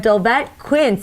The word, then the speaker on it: Dolvett Quince: We have Dolvett, Quince. Am I saying that correctly, Dolvett? You are. Okay, good.